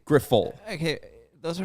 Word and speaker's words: Grifol: get updates for that I think it's gruffal it's two words it's the pronunciation guide that they put out it's two words g-r-i-f in little uh you know little letters and then in big letters it was full so I would say grifol okay those are not